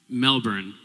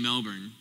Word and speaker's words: Melbourne: talking and you're saying Melbourne. You're about to get off the plane. I'm going to warn you. You have to say Melbourne. That's not how it's pronounced.